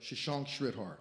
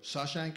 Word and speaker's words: Shashank Sridhar: And they come to me and they go, "How do you say his name?" I go, "Shashank Sridhar." They go, "Shashank." I go, "No. Shashank Sridhar." And they go, "Sashank?"